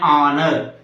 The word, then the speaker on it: honor: our and honorable an honor honor H is silent the immediate second letter